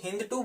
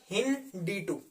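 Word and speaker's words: HindII: ठीक है, हिंद D2, कई लोग इसको हिंद 2 बोलते हैं, बट एक्चुअल जो हमने गूगल से प्रोनाउंसिएशन देखी थी, जब मैंने चैप्टर किया था गूगल से प्रोनाउंसिएशन देखी थी, तब हमने देखा था हिंद D2, ठीक है, हिंद D2।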